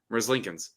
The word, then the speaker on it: Merzlikins: Merzlikins. That's exactly what I said. Yeah, I think that's exactly how it's pronounced.